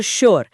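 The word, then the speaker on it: sure: लेकिन शुगर और श्योर इन दोनों ही शब्दों में एस के ठीक बाद कोई एच है ही नहीं। फिर भी इन्हें शुगर या श्योर नहीं पढ़ा जाता। बल्कि भारी आवाज के साथ शुगर और श्योर उच्चारण किया जाता है।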